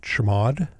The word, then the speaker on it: chmod: it executable by typing chmod or as we pronounce it chamod 75 5 5 which